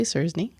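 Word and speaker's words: Czerny: Well, you pronounce it. Henry. Yeah, I would say I would say Cernney.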